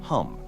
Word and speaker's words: Ham: The bja mantra or seed sound of the throat chakra is ham pronounced hum.